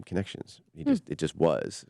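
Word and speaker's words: Connexions: So, the word the name of connections is spelled the French version. So, it's C O N X I O Ns. So, I make the Bugs Bunny joke. It's connections, you know, so that people understand that because they constantly try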